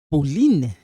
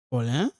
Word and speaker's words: Pauline: Alors, si c'est réponse de Pauline, hein, ça c'est when you pronounce this is not Paul. No. In French, we say this Paulin. Paulin, not Paul.